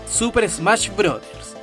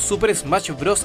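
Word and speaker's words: Super Smash Bros.: pronunciado mal su nombre la saga en realidad se pronuncia super smash brothers y no os super smash bros a secas tal como se lee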